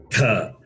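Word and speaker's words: थ: The next letter, tha. Mahaprana. You have to give emphasis when pronouncing this letter, tha. Mahaprana, because it's Mahaprana.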